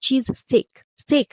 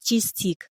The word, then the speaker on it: cheesesteak: But please, before we move on, it's pronounced cheese steak. Steak, oh, not cheese stick.